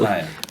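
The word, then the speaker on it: Saniyya: I can't ever pronounce the young lady's name correctly. Sanaya.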